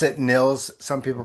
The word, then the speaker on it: Nils: I pronounce it Niels. Some people pronounce it Niles, but I pronounce it Niels.